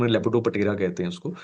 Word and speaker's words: Lepidoptera: can remember it better it is actually called as lepot terra but p word silent to pronunciation lepidopera so lepidoptera is the